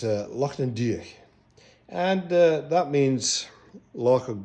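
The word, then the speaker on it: Lochan Doire-Uaine: but in Gaelic it is pronounced it's Loch an Diach, and that means Loch of Green Thicket.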